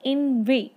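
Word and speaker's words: inveigh: उसके बाद नेक्स्ट हमारा वर्ड आता है इनवे। इनवे, देखिए इसमें HGH है तो वो साइलेंट है।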